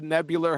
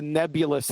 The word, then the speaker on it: nebular: like the way you said the nebular hypothesis yesterday. You said the nebulous hypothesis.